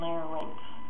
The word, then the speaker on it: larynx: is basically the faerin don't say fairx or LX it's fair Rinx and lay rinks I just have to